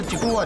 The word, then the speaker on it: 竹輪: 写竹轮，它是发音是吉古瓦吉古瓦吉古瓦吉古瓦。哎，那我们念久了变吉古拉了。